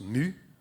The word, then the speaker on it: My: Donc en fait, MySQL, en fait, c'est un nom de fille suédois qui se prononce Mu.